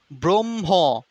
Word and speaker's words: ব্রহ্ম: জয় ধ্বনি জয় ধ্বনি ব্রহ্ম এই যে ব্রহ্ম হ উচ্চারণ হবে ব্রহ্ম ব্রহ্ম হ ব্রহ্ম ব্রহ্ম ম টা কিন্তু উচ্চারিত হচ্ছে না এজন্য অশান্ত ব্রহ্ম হু